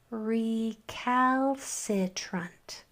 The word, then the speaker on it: recalcitrant: So, this part is e re. If you got that, well done. Celebrate. Next syllable ca cow. That a is making its short sound. Putting these together, we have recal. Recal. Next syllable. This c is making it soft sound. So we have s i s s. Putting all three syllables together. Recalc. Recalc.